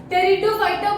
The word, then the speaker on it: Pteridophyta: टेरिडोफाइटा बोलते हैं इसको, पी साइलेंट होता है बट हमें याद रहना चाहिए पी से होता है ये.